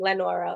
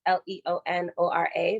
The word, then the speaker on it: Leonora: lot of you guys have been calling me lenora or leonora so it is spelt l-e-o-n-o-r-a but it's actually pronounced leonora i figured i